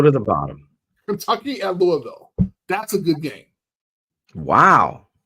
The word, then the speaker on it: Louisville: say it Lou Louisville how do you say it Louisville Louis Louisville there we go that's how you say it Louisville Lille Lille that's how